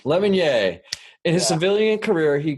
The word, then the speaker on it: Lemonnier: Is that how you say it? Lemonnier? Lemonnier. It's French. Lemonnier.